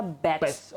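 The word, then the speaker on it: Bach: Asli dokter aslinya dia dokter dari UK Bramingham makanya pronounce-nya batch Edward Batch.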